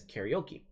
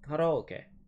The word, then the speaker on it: karaoke: Most of us English speakers might know this as karaoke. However, the original pronunciation is karaoke. That's the true pronunciation.